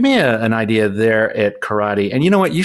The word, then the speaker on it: Corradi: Just think of it with an Italian accent, Corradi.